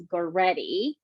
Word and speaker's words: Goretty: My nickname is, but my actual name is Goretty. But a lot of people have a hard time pronunciating it, so I go by for the ones that can't do it.